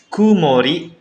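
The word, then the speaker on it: 曇り: Kemudian cuaca masih ya minasang, yaitu langitnya cerah, dibacanya hare. Satu kanji itu cuma dibaca ha ya minasang. Kemudian mendung, kumori.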